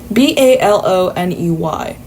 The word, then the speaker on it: bologna: How am I supposed to look at that and infer that it's supposed to be pronounced bologna? Baloney.